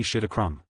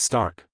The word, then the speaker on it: Stark: So, you're Tony Shit-a-Krum. Levi deliberately mangled the pronunciation of Stark. It's Stark. Tony snapped instinctively.